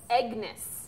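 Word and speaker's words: Aengus: Aegnus. It's spelled a little like anus. Oh. If you want to make the G there's silent.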